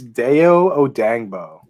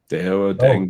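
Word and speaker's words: Dayo Odeyingbo: It's Deo Odangbo. Deo Odangbo. Dang. Yeah, it's an edge Odangbo, and it's pronounced exactly like that.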